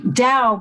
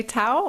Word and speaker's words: Tao: is okay to say tao or does is that disrespectful um that's probably the american way of saying it then the chinese would pronounce it more like with a d instead of a t okay good i just